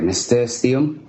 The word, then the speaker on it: nasturtium: I don't even know how to pronounce it. I'm sorry, nasturtium.